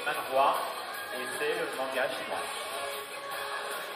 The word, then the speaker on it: manhwa: Et avec un H, ça se prononce manhwa.